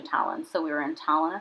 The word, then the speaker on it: Tallinn: Tallinn and it's Tallinn I think we kept pronouncing it to lean but I think it's actually Talent so we were in